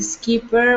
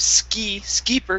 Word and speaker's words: skipper: the pier, and the skipper was escorted away. Okay, Rumors were good. Just out there. All right, okay. very nice. This word here, instead of skipper, give me a short I sound.